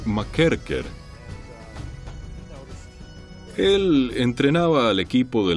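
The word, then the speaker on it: McKerchar: trabajaba un entrenador llamado tom y michael jr o como lo pronuncian los escoceses tome macair care el entrenaba al equipo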